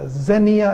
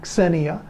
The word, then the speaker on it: xenia: sound at the beginning, xenia. Think of taxi without the ta at the beginning, xenia.